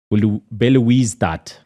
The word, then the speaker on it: Belouizdad: AS Otoho and CR Belouizdad. Yeah, you got it. Belouizdad. That's better. That's Group C with Stelli's. It's Belouizdad.